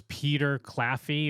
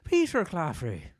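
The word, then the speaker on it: Peter Claffey: Kingdoms with these two so yeah this is Peter cafy or cfy the the rugby player that I'm seeing here um and then yeah he's playing sorry the correct pronunciation is actually Peter cafrey yeah thank you yeah he's duning the the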